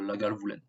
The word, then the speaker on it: Lagavulin: moyennement tourbé en fait c'est pas écrit comme ça c'est lagavuline mais on prononce comme cela la gale voulait 24 à 35 mais